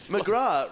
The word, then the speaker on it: McGrath: McGrath rhymes with Myanmar.